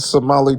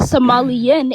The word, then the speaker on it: Somali: Here comes a Somali pirate refugee. Finally, it finally you said it right. It's not Somalian, it's Somali.